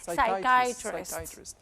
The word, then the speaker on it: psychiatrist: Psychiatrist. Is it like even the P is silent, isn't it? Yes.